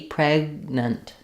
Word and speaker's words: pregnant: I would rewrite that respell that as PR with an unreleased G pregnant almost like no vowel in the second syllable pregnant um she's very